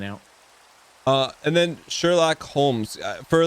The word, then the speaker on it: Holmes: silent yeah so it's a weird english english name with a bizarre silent l but yeah so that's why it's just sherlock holmes because it's basically identical